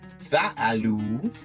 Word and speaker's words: فعلوا: So now that we have the oo, we have fa'alu, and we'll put an alif on after it. This alif here is silent. So it shows fa'alu with an alif, but we don't pronounce it.